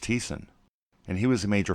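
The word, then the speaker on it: Thyssen: we saw Fritz teason who I thought was pronounced Fritz Dyson but it's pronounced Thiessen and he was a major financer of Hitler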